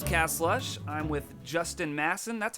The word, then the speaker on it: Masson: I'm with Justin Masson. That's how you say it, right? Masson? Yeah, a lot of people say Mason, but it's actually two S's, so it's pronounced Masson.